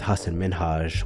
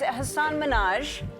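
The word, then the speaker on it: Hasan Minhaj: There was the interview with Hassan Minhage where she mispronounced his name, then insisted that she'd got it right. And it's Hassan Minaj.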